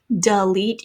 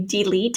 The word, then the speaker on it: delete: a schwa so complete this o has become a schwa sound delete you can hear that and so we don't say delete some people say delete